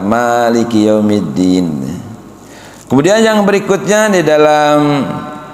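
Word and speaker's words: مَالِكِ يَوْمِ الدِّينِ: Jadi harusnya Maliki yaumiddin dibaca dua harakat. Maliki yaumiddin.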